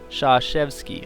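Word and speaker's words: Krzyzewski: Blue Devils Mike koretsky whose last name is pronounced Shaw chefs key okay thank you very much for helping me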